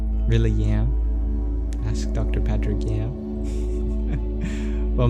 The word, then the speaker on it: Yam: Dr Patrick yam well my first name is Liam and if you take off the L it is spelled with a Y so it is spell y a m self-care is so important